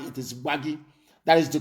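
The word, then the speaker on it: Gbagyi: not guard it is bhagi that is the correct pronunciation because in arusa intonation they cannot pronounce bhagi that was why they named it wary it is not worry it is wagi gba gi very very important that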